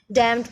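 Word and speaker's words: dumb: Next है डम में बी साइलेंट, पाम में एल साइलेंट, प्लम्बर में बी साइलेंट, एमंड में एल साइलेंट।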